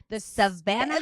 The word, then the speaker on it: Savannah: Silent H in Savannah. That to me says Savannah.